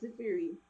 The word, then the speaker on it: Zafeiri: Tell me, who exactly is the, and am I pronouncing it correctly, the Zafeiri, is it? Yes, Zafeiri.